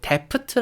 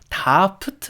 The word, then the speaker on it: daft: 니까 약지 아닌가요 라고 데프트 라고 생각하실 것 같은데 영국식 표현 이니까 영국식 발음으로 이제 사용을 해 가지고 다프트 라고 여러분께 생각하시면 될것 같아요